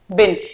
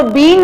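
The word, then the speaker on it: been: इसको बीन मत बोलना, हैज बिन, have बिन। Pronunciation I told you little important, ठीक है। हैज बीन नहीं होता, हैव बीन नहीं होता, बिन। जैसे डस्ट बिन होता है वैसे बिन, ठीक है।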